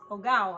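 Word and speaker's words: hogao: how you pronounce it here's a tip when you see a spanish word you never pronounce the h that's what my spanish teacher always told me growing up you never pronounce you never pronounce you never pronounce the h so spelled h-o-g-a-o it's that luscious tomato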